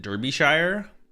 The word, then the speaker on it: Derbyshire: Is it Derbyshire?